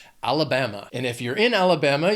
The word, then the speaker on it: Alabama: It has 4 syllables and the stress is on that third syllable, that BAM. Alabama.